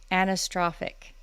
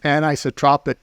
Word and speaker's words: anisotropic: to be talking about here I go anastrophic did I say it right uh no it's anisotropic properties and isotropic properties so will you please